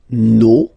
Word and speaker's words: nos: Okay, and then for the plural, nos, vos, and then leur. Okay, so remember, even if you've got this final s, you don't pronounce it, as it was the case already for this word.